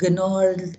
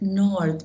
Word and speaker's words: gnarled: Staring at the limpid water of his fountain, which was surrounded by gnarled, okay, not gnarled, gnarled. It's because GN is N. We do not pronounce the G.